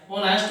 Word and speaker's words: honest: नेक्स्ट है Rohit, ROHIT, Rohit is blank ऑनेस्ट बॉय, HONEST, ऑनेस्ट बॉय। जब आप इस ऑनेस्ट को हिंदी में लिखोगे तो यहाँ पर भी एच साइलेंट है, ऑनेस्ट, तो यह भी हिंदी भाषा का शब्द है, यहाँ पर भी एन आएगा।